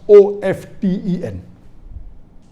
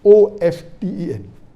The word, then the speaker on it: often: saying often is correct T is not silent it should be pronounced some said t stand